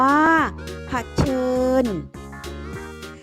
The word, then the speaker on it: เผชิญ: สบู่ อ่าน ว่า สบู่ เผชิญ อ่าน ว่า ผัด เชิญ แสดง อ่าน ว่า ว่า